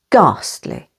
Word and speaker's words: ghastly: the second syllable exhale H is always silent after G for example ghastly ghost and ghetto with